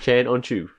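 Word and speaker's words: Can Öncü: Yeah, that's how they pronounce it on the. I checked. I rewatched it. Yeah, Chan On Chu.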